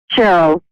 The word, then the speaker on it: Cheryl: Cheryl. Like almost like with an S rather than the C.